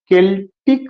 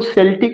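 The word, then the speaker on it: Celtic: His early poems can be used as an exponent to his concept of केल्टिक revival. ये भी question पूछा जाएगा, इसको सेल्टिक नहीं पढ़ना है, सी यहाँ पे का प्रोनाउंसिएशन करेगा, केल्टिक रिवाइवल।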